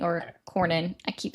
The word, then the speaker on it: Cornyn: And then what was going on was Corwin is saying, or Cornyn, I keep saying his name wrong.